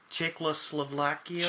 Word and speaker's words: Czechoslovakia: Czechoslovakia.